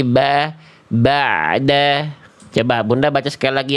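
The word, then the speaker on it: بَعْدَ: Nah, jadi dibacanya jangan begini. Jangan ba'da. Dibuka rongga mulutnya. Simpelnya coba kasih agak senyum sedikit, jangan ba'da tapi ba'da. Coba Bunda baca sekali lagi yang warna kuning ini. Ba'da.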